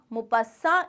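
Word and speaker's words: Maupassant: मुपास्सां इसका प्रोनाउंसिएशन है।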